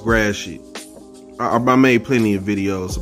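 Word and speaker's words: Gratiot: right yeah that's that's facts that's facts it's pronounced grassy i made plenty of videos about mispronounced detroit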